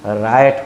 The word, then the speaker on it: riot: ये राइट नहीं, रायट होता है।